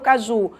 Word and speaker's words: caju: sílaba tônica de caju venda o caju Olha o caju ó Ju a sílaba tônica é a última essa sílaba tônica me